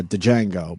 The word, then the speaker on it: Django: jang to judge and i know it's pronounced uh... django but I like this eight digit and